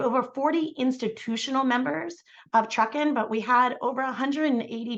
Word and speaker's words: TRUCEN: um this is the fall Gathering of the Truckin Network and for those that are new um Truckin is an acronym not pronounced true sin as I always say a mistake that I